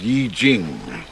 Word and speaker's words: I Ching: I Ching. It's pronounced Yi Jing.